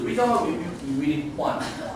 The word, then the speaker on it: Juan: So like here, the letter J is pronounced as the H.